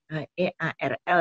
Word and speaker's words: Earl: Pertama itu G.W. Earl, E-A-R-L ya, Earl bacanya.